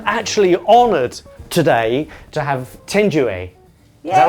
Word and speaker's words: Thenjiwe: I'm actually honoured today to have Thenjiwe. Is that right? Yes, you got it right. I have to try Thenjiwe because it's spelt with a TH. I would say th, but you say it's Thenjiwe.